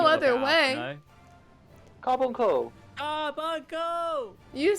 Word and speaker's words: Carbuncle: That's why Jamie said it, like carb uncle, like an Carbuncle. uncle Oh, I'm so of. confused. I don't know. Oh no, it just sounded like you were saying like two words. Carbuncle.